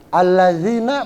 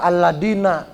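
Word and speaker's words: الذين: orang terbawa lisan daerah alazina bacanya alladzina Alhamdulillah kadang-kadang lisan daerah kebawah Biasanya kalau orang-orang Jawa Barat orang-orang Sunda gitu Aladin itu itu jadi salah itu harus dibenerin kalau bacaan yang wajib dalam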